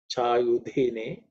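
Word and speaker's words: चायुधिने: Tiksh, again, again, cerebral raksha, tikshne sha, again, the same sha, tikshne shave, chayudhi, again, dha is the fourth letter in the third varga, so it has to be aspirated. Namastikshne shave, chayudhine cha.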